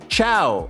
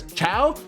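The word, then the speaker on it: Chao: I was looking it up and I saw people pronouncing it as Chiao. I was like, "Is it KO?" Like Kaos, I don't know. But Chiao seems to be the agreed one.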